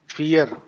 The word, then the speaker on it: vier: फियर। फियर। फियर। देखो, counting के अंदर काफी हम्म। सारे प्रोनाउंसिएशन रूल्स है। ड्राई, फियर, आई ई है तो फियर हो गया, ठीक है।